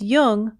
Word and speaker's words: Jung: podcasts or tune in just be sure to pronounce Jung with a heart Jay you can help support